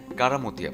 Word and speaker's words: কেরামতিয়া: ও মাজার তার নামানুসারে এ মসজিদের নাম রাখা হয় কারামতিয়া মসজিদ তবে স্থানীয় উচ্চারণে কেরামতিয়া মসজিদ নামেই প্রসিদ্ধ এই মসজিদ মোঘল স্থাপত্য